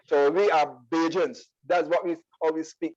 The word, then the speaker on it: Bajan: So on the poetry, about the poetry, what is, I'm gonna see if I'm gonna pronounce this right, Bajan written poetry? Bajan, right.